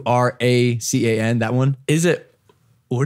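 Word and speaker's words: Huracán: not the Lamborghini her I say Huracan cuz it's spelled like that I mean yeah what when we went to Italy they said it's the Otakon they're so precise that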